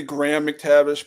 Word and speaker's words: Graham McTavish: pronounce it in parade I think it's technically Graham McTavish but no it's Graham he's British it'll be Graham oh okay well the sorry